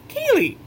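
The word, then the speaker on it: ceilidh: You look at it and you go, how's that pronounced? Kaylee, of course.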